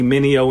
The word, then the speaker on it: Mineo: We got Andy Mineo in the building.